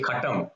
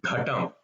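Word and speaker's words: घट: And you should not say katam, it's ghatam.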